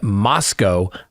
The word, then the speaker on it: Moscow: So, so photographs from the interior of the residence at 11:22 King Road in Moscow, Idaho, rhymes with Costco, where four University of Idaho students were fatally stabbed, have been disclosed to the public for the first time.